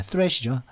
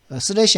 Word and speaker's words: threat: threat이죠. 슬래시 아니고 threat.